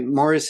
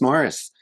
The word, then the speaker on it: Maurice: Hutchinson played by by Morris Evans, uh, spelled Maurice, but pronounced Morris.